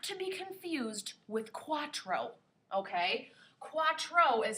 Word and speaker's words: cuatro: could say quarto not to be confused with cuatro okay cuatro is spelled c-u-a-t-r-o quarteaux the r and the t